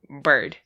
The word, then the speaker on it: Byrd: d but i yeah it's pronounced bird like bird and i'm just that